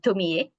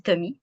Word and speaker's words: Tomie: Un bon exemple, c'est Tomie. En français, on dit Tomie, mais en japonais, on dit Tomie parce qu'on prononce toutes les voyelles, de Junji Ito, qui